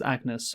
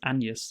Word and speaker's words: Agnes: Uh who who by the way in our Hamnet review we pronounced it as Agnes when uh in the movie it's pronounced Anus, of course.